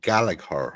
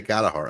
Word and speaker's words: Gallagher: That's the way we say silent silent second G.